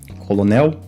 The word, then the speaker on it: colonel: Exatamente, a gente tem aqui uma palavra que tem um L entre vogais, mas que recebe aqui um som de R, desse R retroflexo.